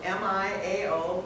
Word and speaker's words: Miao: It's spelled M-I-A-O, but pronounced Miao.